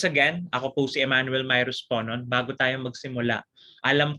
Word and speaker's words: Mirus: Pero yan, ang tama kong pag-pronounce ng pangalan ko ay Mirus, 20 years old na po ako.